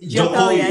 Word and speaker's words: Jokowi: Jokowi, yeah.